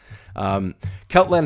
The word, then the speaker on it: Celtland: It's Celtland, right? That's the way to say it. that's right. Yeah, Yep. yeah. Okay. I don't know why I question myself, but Celtland has been cast into chaos by the theft of Elthill's book.